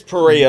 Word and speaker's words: Perea: Today we have Perea on the It's Pereia.